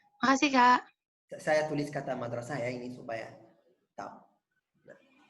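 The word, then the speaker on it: مدرسة: Jadi kata sekolah artinya madrasah. Oke, ya. Makasih, Kak. Saya tulis kata madrasah ya ini supaya tahu. Nah, ini saya tulis dulu. Mana? Saya screen. Nah, saya tulis ya kata madrasah.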